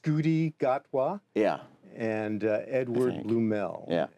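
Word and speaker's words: Ncuti Gatwa: It's I think it's pronounced Scooty Gatwa.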